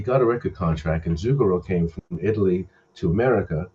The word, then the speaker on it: Zucchero: lot of work with the Italian artist Zucchero.